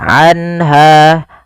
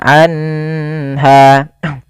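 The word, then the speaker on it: عنها: Yaitu cara membacanya adalah suara nunnya dijelaskan suara nun sukunnya, anha, dan tidak boleh ditahan, anha.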